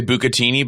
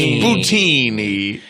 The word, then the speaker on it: bucatini: I also do want to say the Americans do say bucatini, but Kevin is saying the Italian pronunciation, which is bucatini.